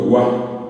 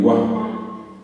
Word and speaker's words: gua: Si yo quiero romper gua en dos, tendría que decir agua, pero esto es gua, en guaraní es gua. Se dan cuenta que el acento está en la A, en la vocal fuerte,